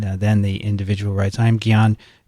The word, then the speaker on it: Gian: the individual writes i'm gion gi as in gibbon i-a-n-n as in martian it's two syllables from the philippines i